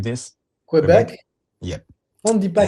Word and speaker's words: Québec: Québec?